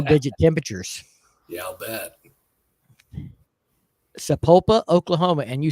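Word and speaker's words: Sapulpa: of uh single digit temperatures yeah I'll bet sapopa Oklahoma and you said it right amazing I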